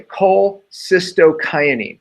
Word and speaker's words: cholecystokinin: When you eat fat, there's actually something released called I have to pronounce it correctly, cholecystokinin.